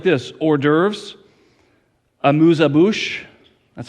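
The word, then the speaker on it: amuse-bouche: 12th course meal goes like this hors d'oeuvres a moosa bush that's how you say it amuse abush soup appetizer salad fish first main course palette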